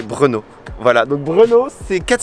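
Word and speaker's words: Brno: grande ville du pays et bruno s'écrit brn aux dons pour prononcer tu prends un prénom de beau gosse tu parles moi prendre comme comme bruno kwast et enlève le bus a fait brenot voilà donc brûlot ces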